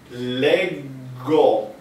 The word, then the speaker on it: leggo: Leggo. Leggo. So legge plus o which in italiano si pronuncia.